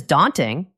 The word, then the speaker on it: daunting: The word is daunting. First, the pronunciation. Daunting. The stress is on this first part.